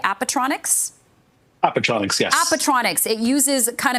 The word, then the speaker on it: Appetronix: Appetronix, yes.